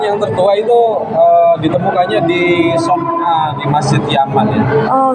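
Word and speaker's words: صنعاء: Al-Quran yang tertua itu ditemukannya di Son'a, di Masjid Yaman ya. Oh, Son'a namanya ya, bacanya Son'a ya.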